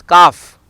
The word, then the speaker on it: calf: Letter L is not pronounced after A, E, U. Calf is not a calf, it is calf.